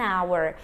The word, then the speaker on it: hour: Então eu começo com o som da letra O, é um som vocálico.